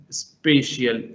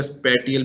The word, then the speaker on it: spatial: वन इज स्पेशियल, SPATIAL, that is स्पेशियल, एंड कई जगह स्पेटियल भी प्रोनाउंस करते हैं, कुछ लोग स्पेशियल भी कर सकते हैं, तो इट्स अप टू यू।